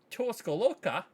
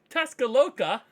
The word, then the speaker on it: Tuscaloosa: this season after a successful career in um tuscalocca Tuscaloosa I always say this name wrong and to the point of you know